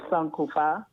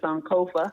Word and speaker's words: Sankofa: Is it Sankofa? Well, you're pretty close actually. The correct pronunciation is Sankofa, but here most people say Sankofa.